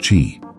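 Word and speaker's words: qi: is to correct imbalances of energy or Chi pronounced Chi there isn't a lot of research specific to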